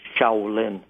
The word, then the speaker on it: Shaolin: The correct pronunciation is Shiaolin Kung Fu.